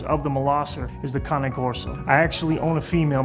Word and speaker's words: Cane Corso: the Molosser is the Cane Corso. I actually own a female myself from Ravalli bloodlines. A lot of people in America pronounce it Cane Corso, but it's Cane. Cane means dog in Italian.